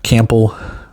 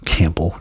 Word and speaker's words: Campbell: Your linebacker, um I I've last name Jaylen Cample. I I pronounced the P on that. Jaylen Campbell. Campbell.